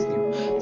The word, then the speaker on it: Nu: just a mess it up like they call pronounce it both like mu it's mu it's mu it's new it's new so they do not get the difference so